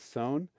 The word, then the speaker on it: Sohn: in love with named Sohn. And it's spelled kind of like John, but with an S instead of a J. So S-O-H-N.